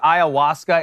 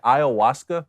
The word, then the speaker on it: ayahuasca: Yeah, well, look, I don't care how much ayahuasca Aaron Rodgers does or how many shrooms he does and then just rubs the carpet. Or Is that how you say it? Ayahuasca?